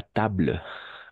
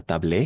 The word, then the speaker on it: table: Ah, sur la table. Pas tablé. Sur la Table. Table. Bleu, bleu, bleu, bleu, bleu. Et la L va terminar. table, Oui, c'est ça. table. No es tablé, sino sur la table.